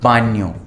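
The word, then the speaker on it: baño: Bathroom, दोंदे अस्ता अल बान्यो, ठीक है, ये एन्या है, ये एन के ऊपर ये, इसको हम बोलते हैं एन्या। दोंदे अस्ता अल बान्यो।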